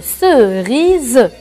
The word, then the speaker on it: cerise: أريد أن أذكرك أنه عندما يكون الحرف "S" في المنتصف ومحاطًا بحروف متحركة قبله وبعده، مثل A أو O أو I أو U، فإنه لم يعد يُنطق "s"، بل يُنطق "z".